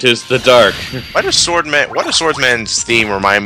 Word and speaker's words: Swordman: not only that he didn't even pronounce his name right he said swordsman I'm yeah I know you're a swordsman but your name is swordman take pride in your